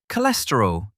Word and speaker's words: cholesterol: Today's word, cholesterol. 4 syllables. K, less, t, roll. Stress on the second syllable. K, less, t, roll. Say it with me.